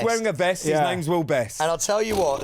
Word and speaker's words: Will Best: So we are joined by a man who who rhymes with guest. It's Mr. Will best that brilliant.